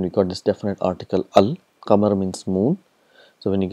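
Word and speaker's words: القمر: okay so here the sound of lamb is pronounced for example we have comer and we got this definite article al kamar means moon so when you get plus comma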